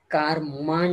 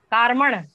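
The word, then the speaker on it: कार्मण: बहुत अच्छा, ये थोड़ा सा उच्चारण पे भी ध्यान देना, औदारिक, औदारिक नहीं औदारिक जी, वैसे ही कारमण, कारमान नहीं कारमण, हाँ जी जी औदारिक कारमण, बहुत अच्छा।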